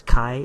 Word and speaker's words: chi: greek letter we pronoun pronounce it as kai as in kai and kite and so this test